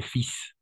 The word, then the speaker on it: fils: oui c'est bizarre mais on va prononcer fils OK exactement et c'est